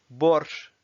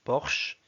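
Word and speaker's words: борщ: Borsch, qui est un plat typiquement russe, c'est une soupe. En français, on dit borsch.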